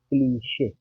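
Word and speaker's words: cliché: क्या है प्रोनाउंसिएशन इसका? क्लीशे। क्लिच नहीं कहेंगे, है ना, क्लिक भी नहीं कहेंगे, क्लीशे होता है।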